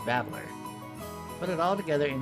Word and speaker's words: Battler: Problem is my given name is made up of the characters for fight and person, and it's pronounced babbler.